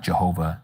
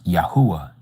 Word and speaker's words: Yahuah: The real pronunciation is not Jehovah Nisi, it's Yahuah Nisi. It's not Jehovah Jireh, it's Yahuah Yari. It's not Jehovah Rapha, it's Yahuah Rapha.